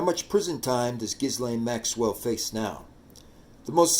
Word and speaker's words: Ghislaine: do you pronounce gizan gizan is pronounced with a hard G and a silent s if it helps the